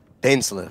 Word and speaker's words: Dainsleif: Dainsleif. I suppose you have some business with me? Dainsleif. That's how you pronounce it.